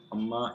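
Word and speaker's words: عمّ: Amma is un plus ma. Then there's a shadda here, and then the noon, and this is an idgham between them, and that's why it is pronounced as amma, and then that's why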